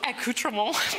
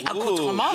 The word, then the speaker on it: accoutrements: Oh, accoutrement. The accoutrement. Oui, oui. I said that off camera and she was like, you should say it like that. Because she said it so beautifully.